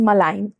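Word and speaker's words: malign: Our next word is मलाइन। मलाइन एम ए एल आई जी N spelling ध्यान रखिएगा यह जो शब्द है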